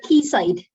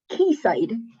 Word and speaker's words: Quayside: cave shepherd and two supermarkets we call it keysight what is it it's pronounced keyside keysight where am i redwood keysight okay thank